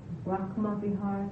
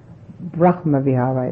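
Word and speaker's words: brahmavihāra: I don't know if this is my hearing or not, but is there Brahma Bihar and Brahma Bihar?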